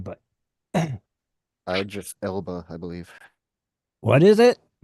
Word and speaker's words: Idris Elba: I don't know how you pronounce his name, but Idris Elba, I believe. what is it? Idris Elba.